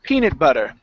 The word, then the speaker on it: peanut butter: these two words together it's peanut butter stress on the first word good one more timean